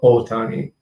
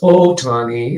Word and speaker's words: Ohtani: encourage you all to pronounce his name correctly as Ohtani, which means literally, means big or big valley. Tani is valley, O is big or major. So it's Ohtani Shohei instead of Ohtani, because then you're talking